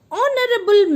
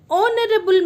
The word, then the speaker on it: honorable: H is silent here. An R. An honorable man. An honorable man.